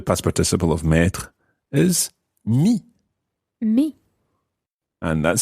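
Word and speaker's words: mis: participle of meter is me me and that's spelled m-i-s me okay and of course the S is silent I have put me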